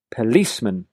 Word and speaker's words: policeman: Policeman. Notice how I emphasize the second syllable here.